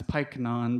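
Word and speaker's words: Pyknon: Uh, so and we'll see later that Piknon doesn't actually I'm going to carefully pronounce Piknon because it's sounds a little bit like Python, but uh, so Pikeon doesn't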